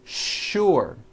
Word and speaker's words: sure: What you may not know is that there are some words in English that are written with the letter S, but are pronounced with the SH sound. Words like sugar and sure.